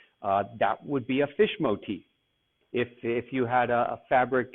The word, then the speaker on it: motif: The word is pronounced motif. So even though it looks like motif, it's motif.